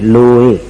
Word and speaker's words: लोए: लोए सव साहहुंम तो लोए में जो ए है लोए उस ए को खींचना नहीं उस ए को कम समय में बोलना एक मात्रा में पढ़ना नमो लोए और सव